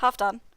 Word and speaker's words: Halfdan: But, he kept saying Halfdan, which is very close to what the name means. It means half Dane, so half Danish. But in the Old Norse pronunciation, I believe it would be Halfdan.